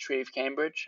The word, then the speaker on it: Treve Cambridge: It's pronounced tree of Cambridge on Instagram and just my name on uh on YouTube.